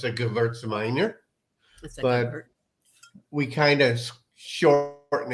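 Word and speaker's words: Gewürztraminer: This is 100% Gewurztraminer.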